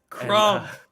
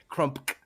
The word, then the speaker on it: Crumpk: Crump. Like Crump. Crumpk. Oh, yeah, there's a K. Yeah, there's a K at the end. You have to pronounce the K.